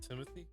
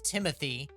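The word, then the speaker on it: Timothée: think by the way everyone thinks it's Timothy because no one wants to actually pronounce his name but he his mother his real name is timot it is timot shalaman so I will pronounce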